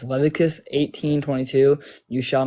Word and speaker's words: Leviticus: sweet so yeah it's not pronounced Leviticus or however the you said it it's pronounced Leviticus right Leviticus right and so